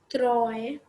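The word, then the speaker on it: trois: as t r o i s that is troy then we have four which is written as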